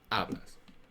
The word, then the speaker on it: hablas: Speak ablas. H do not pronounce. Okay. Abas.